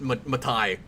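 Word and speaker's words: Matei: the same way but it's it's pronounced it's pronounced matai exactly he has the same problem that uh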